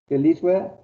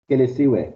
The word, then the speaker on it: Kelisiwe: Keliswe. Have I pronounced it correctly? Keliswe. Stelisiwe, sir. Kelisiwe. Is that right? Yes, sir. Kelisiwe.